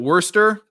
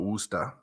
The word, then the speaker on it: Worcester: The way he pronounced it, because you don't say the ER, it's the AR.